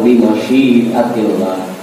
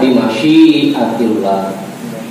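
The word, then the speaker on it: بمشيئة الله: Bismillahi walhamdulillah wal khairu wa syarru bi masyiatillah. Ada di ratib. Bismillahi walhamdulillah wal khairu wa syarru bi masyiatillah. Yang benar tuh bacanya bi masyiatillah. Jangan mim yang dipanjangin, bima syiatillah. Apa? Bima syiatillah.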